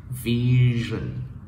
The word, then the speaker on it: vision: Vision, vision, vision.